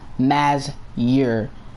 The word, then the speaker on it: Mazur: And yes, his name is pronounced Mazur. M-A-Z-U-R. Mazur.